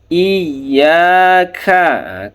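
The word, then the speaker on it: إِيَّاكَ: Iyyaka na'budu wa iyyaka nasta' iya tasdid ya bukan iya iya tapi ada tasdidnya dibaca iyaka. Iya.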